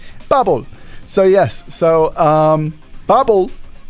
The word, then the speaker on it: Babel: Babble. You have to You have to say it like Z or Babble. Babble. Babble. Yeah. Not bubble.